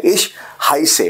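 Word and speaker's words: Ich heiße: इश हाइसे, अब प्रोनाउंसिएशन क्या है? हाय से। अब बोलोगे कैसे इसको आप? यू कैन से हाय, हाय एंड से, that's the pronunciation.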